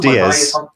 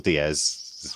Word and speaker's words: Dies: DS Holocaustum, or Right. DS or Diaz. Diaz. Both right, but it's definitely not Dies anyway.